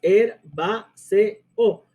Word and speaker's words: herbáceo: 4 sílabas, herbáceo, y por eso es que lleva acento, porque es una esdrújula por hiato.